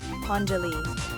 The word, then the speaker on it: pondělí: Pondělí, pondělí. Imagine pon rhyming with ton and die like the color. The li at the end is soft and quick.